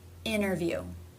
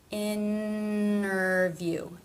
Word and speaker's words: interview: actually exist in IPA this would be when the tea begins an unstressed syllable and the syllable before ended with an N I have noticed this for example interview interview there's no stop there's no tea there's no D also wanted I wanted